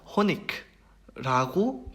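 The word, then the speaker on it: Honig: 그런데 이게 지역에 따라서 특히 독일 남부 지역 같은 경우에는 저거를 그대로 일반적인 규칙에 따라서 크 발음으로 발음을 하는 경우가 있어요. 따라서 호니크라고 발음을 하는 경우도 있어요. 하지만 이게 절대 틀린 발음은 아닙니다.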